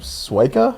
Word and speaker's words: Swieca: how how do you say your last name sua sua sua it's polish so it's like s w k is like the yeah pronunciation all right so we've got Chad sua